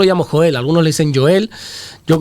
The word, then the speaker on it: Joel: Yo, como en mi Biblia sale con J, yo lo pronuncio Joel. ¿Verdad? No creo que, no sé si lo llamarían así en su época, o Joel o Joel. Los judíos suelen pronunciar mucho la J, son de... Sí, pronuncian Baraj Adonai, son de pronunciar la J, hacer énfasis en la J, así que yo creo que sería el profeta Joel, con esa J bien marcada, bien pronunciada.